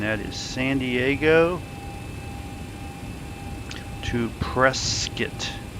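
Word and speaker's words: Prescott: is San Diego to presskit I know it's spelled Prescot but the local say presskit so let me print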